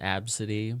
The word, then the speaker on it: Abcde: the same people that named their child absity but it's spelled ABCDE e oh my gosh